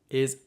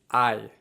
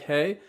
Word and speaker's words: hay: So the first one, which you may have come across already, is I. H-A-Y. It looks like hey, but it's not pronounced like that. It's pronounced I.